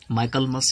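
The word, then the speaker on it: Michaelmas: एक जगह हो सकता है माइकलमस, ये प्रोनाउंसिएशन है इसका, और यही ठीक रहेगा, दैट्स ऑल।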